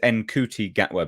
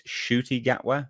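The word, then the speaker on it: Ncuti Gatwa: look his name is enti gatwa but it's shoy apparently it's shoy gatwa the N is silent um and he gets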